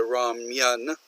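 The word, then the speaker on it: 라면: Now, he uses more the Korean pronunciation here of ramen. In English, we would say ramen. He does more of the ramyun, okay?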